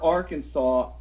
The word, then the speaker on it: Arkansas: now all right well you have you have the word arkansas and saw is saw and it's sas but if you take the